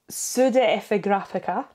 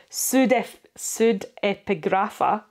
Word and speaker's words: pseudepigrapha: And then pseudepigraphica. Sorry, pseudepigrapha. I've put in an extra syllable there, which is apocrypha.